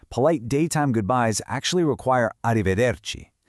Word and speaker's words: arrivederci: While ciao works perfectly for your friends, polite daytime goodbyes actually require arrivederci. To pronounce it properly, just remember that the C at the very end sounds just like a key in English.